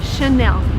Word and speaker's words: Chanel: just behind me and the right way to pronounce it is again in French because it's from friends so the correct way to say this word is Chanel and by the way